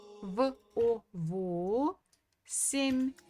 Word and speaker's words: восемь: So again, the stress falls on O. So instead of ye, we can pronounce, okay, this is again not a very clear E, like this. This is a clear E.